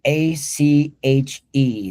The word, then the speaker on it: ache: You see ear and then a c h e. This sounds like ache.